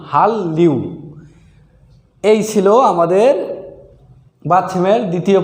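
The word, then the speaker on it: 한류: উচ্চারণ হবে, তার মানে এটাও ল হবে। তাহলে উচ্চারণ হবে হাল্লিউ, তাহলে সঠিক উচ্চারণ হবে হাল্লিউ, হাল্লিউ।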